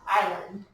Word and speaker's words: island: so you guys yeah island good i know does an island look like it would be said inland yeah the s is silent island all right number three